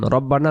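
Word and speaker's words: ربنا: এরপরে আমরা সোজা হয়ে দাঁড়াবো যখন তখন আমরা একটা পড়ি কি রব্বানা লাকালহামদ রব্বানা রাব্বানা না উচ্চারণ রব্বানা রব্বানা লাকালহামদ হামদ এমন উচ্চারণ হিসেবে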